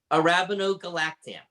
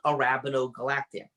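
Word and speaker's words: arabinogalactan: And now we have something that you're going to have to pronounce for us, David. Arabinogalactam.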